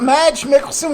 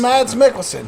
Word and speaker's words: Mads Mikkelsen: that Emad s Nicholson so it's matte like Mads Mads Mikkelsen yeah you've seen him